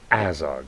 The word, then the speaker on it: Azog: like hat Nevada and it's Azog like hat AOG is looking better